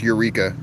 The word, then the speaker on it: Eureka: Uh, it depends how you want to say it, but in in English that word is is pronounced Eureka, but the uh Japanese like pronunciation of it or something is erea or something like that.